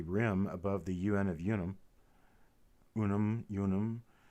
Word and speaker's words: unum: See a little bit of damage at the rim above the UN of unum. Unum. Should be pronounced unum because there was no U sound in Latin.